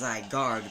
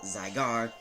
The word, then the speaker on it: Zygarde: you pronounce it zygar you may think it's pronounced zard because of a d right here but the D is silent so now you know how to pronounce it zygar known to be the